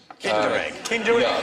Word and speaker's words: Kinder: extra point for that actually rhymes with tinder egg kinder yeah with the secret